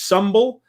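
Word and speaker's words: symbel: into a Hrothgar's Hall and a ritual called humble or some it's it's spelled symbol but it's pronounced humble and which is a drinking ritual and this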